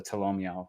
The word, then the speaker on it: Tolomeo: Is it Tolomeo or Tolomeo? I always forget how to pronounce it. It's Tolomeo. Tolomeo. My Discord's been laughing at you because you mispronounce it every time.